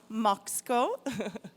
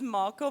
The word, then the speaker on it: Moko: And for this topic, I would like to invite Lidiane Moko, which is pronounced Moxco, but she uses Moko most.